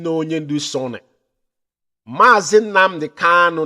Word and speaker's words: Kanu: Mazi Nnamdi Kanu, not Kalu. Mazi Nnamdi Kanu, not Kalu. Our leader's name is not Kalu, it's Kamanu Ozuzu.